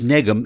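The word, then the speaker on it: nekm: and the word is Negan and it's spelled n e k m now you'll recognize that the K sounds like an English G yes but really it's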